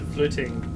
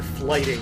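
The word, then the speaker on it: flyting: be something close to fluting it looks like flighting when you write it out uh if you're an English speaker but it was basically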